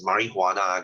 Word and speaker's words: marijuana: LSD and you have your marijuana this is pronounced as marijuana guys the J is HR because it's a